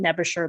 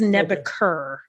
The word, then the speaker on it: Nebuchadnezzar: So I have been mispronouncing it Nebusher the whole time. It is Nebuchadnezzar.